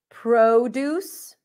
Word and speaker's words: produce: convict, convict, convict, convict, produce, produce, pro, O as in go, produce, versus to produce.